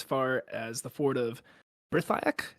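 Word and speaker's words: Brithiach: And they ran as far as the fort of Brithiak. Is that how you say it? Brithiak? Brethiak, yeah.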